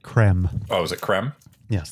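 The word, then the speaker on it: crème: the word is accented, so I believe it's pronounced creme.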